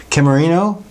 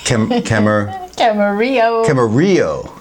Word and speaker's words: Camarillo: Camarino? How you pronounce it? Camarillo.